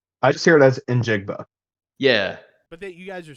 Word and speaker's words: Njigba: I thought it was Jackson Smith Ninjigba. Either way, But you're right, because there is an N there. But I swear I never hear it pronounced. I just hear it as Njigba.